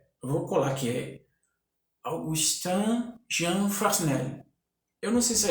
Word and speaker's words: Fresnel: E o Fresnel, ele trabalha muito com esse tipo de iluminação.